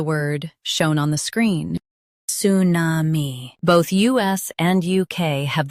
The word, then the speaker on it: tsunami: Tsunami. Both US and UK have the same pronunciation of this word. Stress su. Keep na and mi smooth. Tsunami. Tsunami. Stress su. Keep na and mi smooth.